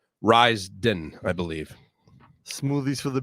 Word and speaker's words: Ryzen: Ryzen, I believe. Smoothies for the BS. It's I believe I pronounced it RA, like Raise, but it's not. It's Rise. Rise, but it's spelled with a Y.